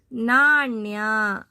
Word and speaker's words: ನಾಣ್ಯ: English ಅಲ್ಲಿ pronounce ಮಾಡಬೇಡಿ ಇಲ್ಲಿ ಣ ಇರುವುದರಿಂದ ಣ ಅಂತ ನಾವು ಮಾಡಬೇಕು ಣ ಮತ್ತು ನ ಗೆ ಡಿಫರೆನ್ಸ್ ಇದೆ ನೋಡಿಕೊಳ್ಳಿ ಉಚ್ಚಾರ ಮಾಡಿಕೊಳ್ಳಿ ಣ